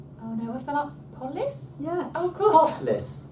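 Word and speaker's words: πόλις: Polis? Yeah. Oh, of course. Polis. Polis. And it means city, so, I mean, that's just obvious, isn't it? Politician. Mm. Politics. Metropolis. Polis. Polis.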